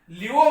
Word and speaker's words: laevo: Left साइडला म्हणतात, मग एल वरूनच नाव आहे, LAEVO, लिओ म्हणायचं. प्रोनाउन्सिएशन इज लिओ, स्पेलिंग लिहिताना लाईओ म्हणा, लाईओ, लिओ रोटेटरी.